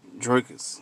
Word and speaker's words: Drakus: and heroes Fest let's get it drers Drake draus yeah I said it right y'all